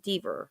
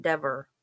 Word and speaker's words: Deaver: I mean, Deaver seems like, I bet she's had it mispronounced all her life. Because it reads like Deaver. Like, that would be the first thing I would think was Deaver. I wouldn't think Dever the first time I looked at her name.